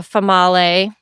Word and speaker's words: Female: But it's and then had like a Famale, Okay. which was female, but that's not how we pronounced it. It was Famale.